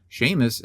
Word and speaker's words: Seamus: I think it's Sheamus. Sheamus is right. S E A M- Us. And Haney, I think, is right. His name is spelled Heene, but his name's also Seamus. So Seamus is Sheamus.